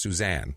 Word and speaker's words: Susan: But her name is pronounced Suzanne, even though it's Susan. Right. Pronounced Suzanne.